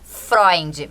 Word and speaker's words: Freunde: Quem quiser procurar no Google, quem quiser procurar no Instagram, a gente fala Freind, mas se escreve F E F R E U N D. E com e no final.